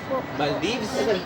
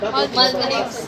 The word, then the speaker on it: Maldives: Maldives? Maldives. Maldives. Grabe, all my life, mali pronunciation ko.